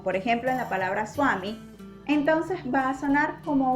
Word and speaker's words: Swami: No decimos Svami, decimos Swami.